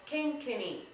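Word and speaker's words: kenkeni: All right, so our third drum over there, that is called kinkini. Kinkini is K-E-N-K-E-N-I. Kinkini. All right? So, let's figure out how many syllables we have for kinkini. Let's go. Kinkini. Was that 3?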